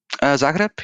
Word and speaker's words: Zagreb: Okay, but I mean, as far as that city, is that how it's pronounced? Zagreb, yeah.